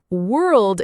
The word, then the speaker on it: world: World is hard because of the R and L together. It helps to slow it down. World. Then build it smoothly.